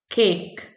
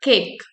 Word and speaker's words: cake: Like if I right this spelling CAKE, cake. If I'm writing cake, so the my pronunciation won't be simple cake. No, I'll bring the difference in my pronunciation.